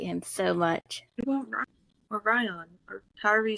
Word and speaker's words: Rhion: kind of I I'm I'm thinking it's Ryan because Ryan in cuz it's spelled r h i o n yeah I'm guessing Ryan cuz that's yeah after